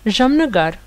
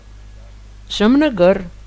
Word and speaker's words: Jamnagar: Mais comme ça finit avec un E court, on prononce ça 1 degré en dessous, et donc c'est sans le A du tout. Donc ça fait Jamnagar. Jamnagar, comme si c'était le R sans aucune voyelle. Parce que ça a un